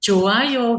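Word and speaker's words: 좋아요: Joayo gitu. Nggak boleh coa bunyinya C kayak gitu, boleh nggak? Nggak boleh.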